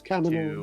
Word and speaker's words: Kaminoans: No, it's because they didn't want the Kaminoans, I think is how you say it. Yes, Kaminoans.